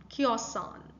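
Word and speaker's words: cēosan: Okay, the primary stress is on k, right? Kiosan. All right. So the san, that's sa, it's not exactly the sa sound that you, it's kiosan. Okay, it's z sound that you might hear.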